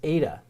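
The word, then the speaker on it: eta: but the word in the letter in greek is ada ada and it has a long a sound so in in greek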